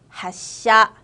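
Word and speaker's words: 発車: 하샤 쯔 다음에 사시스세소가 왔기 때문에 그 쯔가 작은 쯔로 변했죠.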